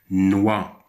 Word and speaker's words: noix: Noix, noix, X à la fin ne se prononce pas.